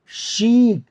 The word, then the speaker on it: chic: ऐसे ही ये बार बार आया था, CHIC, शीक। शीक मीन्स होता है स्टाइलिश पर्सन, स्टाइलिश, कोई भी स्टाइलिश चीज होती है, शीक पर्सनैलिटी, शीक, शीक मतलब स्टाइलिश, फैशनेबल।